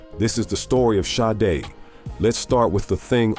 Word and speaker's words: Sade: People said Sade. They said it like it rhymed with made. It's Sade. 2 syllables, soft.